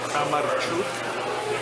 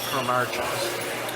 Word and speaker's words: Kramarczuk: In Ukrainian, it's pronounced Kramarczuk, but in English, it's called Kramarczuk.